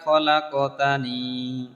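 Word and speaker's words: خَلَقْتَنِي: লা ইলাহা ইল্লা আনতা খলাকতানি এইখানে আমরা আনতা বলি আন্তা বলার জন্য আং বলতে হবে খা বলা যাবে না খ বলতে হবে লাক বলা যাবে না লা ক বলতে হবে ঠিক আছে তাহলে তিন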